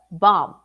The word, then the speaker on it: bomb: Yeah, so the MB in English, every time you have the MB, you're not going to pronounce the B, like climb, plumber, what else? There are other words. But anyway, so correct this mistake when pronouncing the profession and also pronouncing other words like bomb, not bomb, but bomb. Was it news to you? Had you ever heard that before about the MB, the silent B after the M?